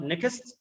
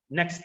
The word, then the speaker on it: next: word medes and next it is not nikkis this is the problem that the foreign speakers have that this word is only one syllable but by wrong pronunciation or not knowing the rules of the forward tactics they can have it as two syllables like neckists though it is next and text similarly with